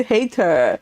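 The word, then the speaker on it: Hayter: that is so good hater and that is how his name is is pronounced because I watch the adaptations and that's how they say his name his name is literally Charles hater oh I love it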